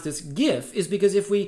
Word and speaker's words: GIF: pronounced jiff and that the image format is pronounced gif and it doesn't matter what even the designer of the image format says i stand by that